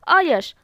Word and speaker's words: अयश: अब देखते हैं नेक्स्ट, अयश और अयस, ठीक है। उच्चार प्रोनाउंसिएशन में थोड़ा डिफरेंस है। अयश, यश यानी क्या होता